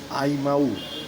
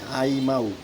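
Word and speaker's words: Imou: আজকে আমি নিয়ে এসেছি আইমাউ। হ্যাঁ, উচ্চারণটা এরকমই, আইমাউ।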